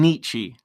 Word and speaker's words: Nietzsche: I'm saying Nietzsche. That's how I'm saying it.